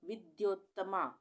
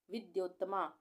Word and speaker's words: विद्योत्तमा: है ठीक है तो विद्योत्तमा वि आधा द और य पूरा और उसपे ओ की मात्रा फिर आधा त और मा विद्योत्तमा इस तरह से हम इसको पढ़ेंगे और लिखेंगे विश्व सुंदरी